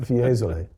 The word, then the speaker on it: Fiesole: Fiesole.